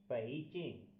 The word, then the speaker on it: 北京: आज का हमारा HSK लेवल 1 का करेक्टर है पेइचिंग। पेइचिंग। पेइचिंग। इसकी आवाज़ प्रोनाउंसिएशन को इस तरह लिखा जाता है पेइचिंग।